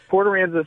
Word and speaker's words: Port Aransas: Oh, no, I mean Port Aransas. Did I get... Port Aransas is correct.